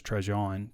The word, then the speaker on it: Trajan: Actually, the pronunciation is Trajan.